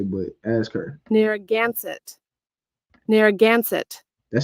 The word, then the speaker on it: Narragansett: Ask her how to pronounce this, because we're about to see what Esau say, but ask her. Narragansett.